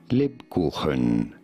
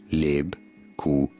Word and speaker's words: Lebkuchen: How do you go about pronouncing it? Lebkuchen. Lebkuchen. Lebkuchen.